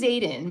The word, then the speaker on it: Xaden: Okay, it is Zayden, but with an X, right?